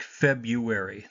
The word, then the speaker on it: February: Notice that we typically don't pronounce this R. It sounds like February the way we pronounce it, but it does have the R written in it.